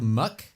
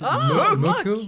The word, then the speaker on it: MUCC: Now this one's the hard one to say because it looks like it's called Muck, but it's Muku. Muku is how you say it. Mook. It's like Mook.